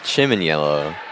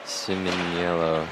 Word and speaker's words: Simniello: I would have pronounced it, oh, where did it go? Like Chiminiello. But I guess Siminiello, yeah. This is what was reported back, so hopefully... We'll trust the player over our own intuition.